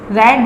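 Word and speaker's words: read: रेड, this is the third form of रीड, रीड, रेड, रेड, this is third form. कैसे पता? क्योंकि have के साथ आई है, that's why this is third form and pronunciation is रेड।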